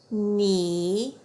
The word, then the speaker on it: knee: Remember that K is silent when it's followed by an N. Let's read those words. Knack, knee, knife.